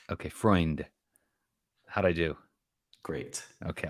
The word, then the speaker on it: Freund: and I'm gonna ask you for help on pronouncing your last name is it friend it's freund it's like the cycle analyst with an extra n before the D okay freund how'd I do great okay awesome well on